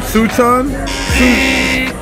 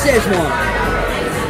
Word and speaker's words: Szechuan: Suchan? That's Szechuan. That's an Asian flavor.